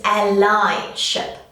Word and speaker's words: allyship: It's not allyship, it's allyship. And I'll explain to you why. We're actually taking a word and we're adding a suffix to make the word allyship.